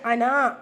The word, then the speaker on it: أنا: ஆனால் அனாவை பொறுத்த வரைக்கும் நம்ம அனா அப்படின்னு ப்ரொனவுன்ஸ் பண்ணக்கூடாது. அன அப்படி தான் ப்ரொனவுன்ஸ் பண்ணணும். நான் அப்படின்னு என்ன குறிக்கிறதுனால அன அப்படி தான் ப்ரொனவுன்ஸ் பண்ணணும். நம்ம அன அப்படின்னு ப்ரொனவுன்ஸ் பண்ணுங்கிறதுக்காக தான் அந்த சர்க்கிளை அந்த மத்தா மேலே மென்ஷன் பண்ணியிருக்காங்க.